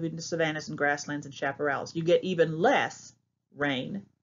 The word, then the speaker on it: chaparral: But that's how you say it. Chap. It's not chap. The CH sounds like an SH.